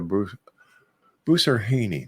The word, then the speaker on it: Boussarhhane: That's when we come back right here with our very special guest, the psychic diva herself, Erica Bruce Buser-Haynie. There, I finally said it right.